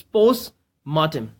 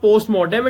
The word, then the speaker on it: post-mortem: noun it's a noun and the word the pronunciation of this word is its pose mahtim okay it's pose mahtim so whenever I am